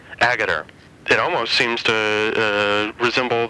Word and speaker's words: Agutter: The treatment of women in the film, that being Ginny Agutter, is that the proper pronunciation of her last name, Agutter? Agutter. Agutter.